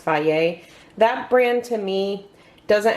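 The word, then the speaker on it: Fage: brand it's spelled f-a-g-e it looks like phage but it's actually pronounced Faye that brand to me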